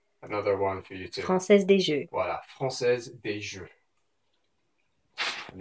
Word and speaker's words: Française des Jeux: Française des Jeux.